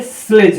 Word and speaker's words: sledge: के पहले आता है, जैसे SLEDGE। अब यह क्या है, ये स्लेज है। अब यहाँ पे डी का कोई मतलब नहीं है, यहाँ पर इस वर्ड में डी का कोई मतलब नहीं है, डी साइलेंट है।